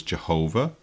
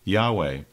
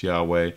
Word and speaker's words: Yahweh: produced the term, the name of God is Jehovah, which of course is fine, but then many have decided more recently it was actually pronounced Yahweh. So the current feeling among Bible experts today is it's Yahweh because the letters that are chosen phonetically represent